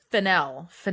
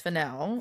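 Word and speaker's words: Fennell: If Emerald Fennel's ever seen Rules of Attraction. And I'm sorry, I should connect myself. Fennel. I always say it wrong. It's Fennel. Fennel rhymes with Janelle.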